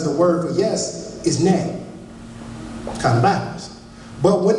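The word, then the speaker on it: 네: Now, in Korean, the word no is pronounced anyo. Okay, which is funny to me because the word for yes is nay.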